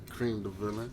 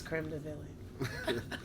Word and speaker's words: Cream Da Villain: to be bringing you guys an interview from cream the villain say it one more time cream the villain okay because i've i've been lying and telling people that your name was creme de villie i just i just feel like when it